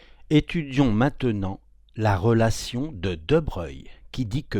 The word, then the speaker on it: de Broglie: cela mais c'est très important en 1924 Louis de Breuil on prononce comme ça se dit ben puisque la